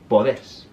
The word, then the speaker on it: podés: For poder, take the R off, add an S, accent the E, and it's podés. The last syllable is sharp.